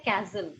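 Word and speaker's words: castle: English में बोलते हैं कैसल क्या बोलते हैं कैसल CEST कैसल so here the टी is silent यहाँ पर टी क्या है गाइस साइलेंट है कैसल क्या बोलते हैं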